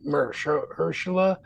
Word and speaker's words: Mahershala: I don't know how to pronounce it. Yeah. Marcella's Wallace? Does it look like Mahershala a bitch?